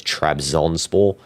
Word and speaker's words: Trabzonspor: The only one I think I pronounced wrong was Trabzonspor. You know, I think I put an extra O in there. I think it's Trabzonspor. But Besiktas, I'm pretty sure I read that right.